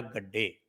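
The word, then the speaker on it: Gadde: थी, वो थी विजया गड्डे। विजया गड्डे या गाड्डे जिसको कह रहे हैं लोग, कि कुछ लोग गाड्डे प्रोनाउंस कर रहे हैं, कुछ लोग गड्डे कह रहे हैं, और ये भी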